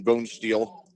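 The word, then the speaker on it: Bonesteel: intended receiver was brayen bone steel last thing spelled just like it sounds like bone and like steel never heard of that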